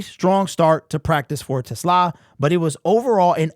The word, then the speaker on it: TeSlaa: Now, I've heard a bunch of variations of his name, but it is TeSlaa.